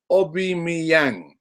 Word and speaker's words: Aubameyang: And Brian Marlon Kaswa reminds me that it's pronounced Aubameyang, Robbie.